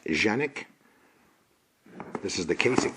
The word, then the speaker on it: Canik: the front it is the Kanak properly pronounced genic this is the case